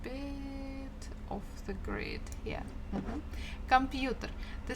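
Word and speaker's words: компьютер: off the grid yeah computer the stress falls on letter U but we have kind of semi-stressed uh before the first syllable come computer computer but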